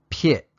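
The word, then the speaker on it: ဖြစ်: verb for is and here it is it's pronounced pit so when you combine it with the affirmative verb particle it would be pit a it uses the teh pronunciation because the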